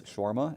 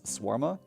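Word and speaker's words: shawarma: 15 minutes you also would mispronounce scharma as swarma and that just bothered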